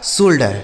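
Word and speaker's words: shoulder: उच्चारण होगा लेकिन उसी ओ यू के साथ अगर एल लिख दिया हो तो ओ का उच्चारण हो गया जैसे सोल बोल बोल्ड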